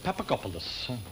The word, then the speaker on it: Papagopoulos: 6, Miss Nugent, and the name is Papagopoulos.